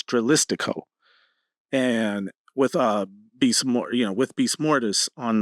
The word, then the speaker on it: Dralistico: I always get his name wrong. It's Dralistico.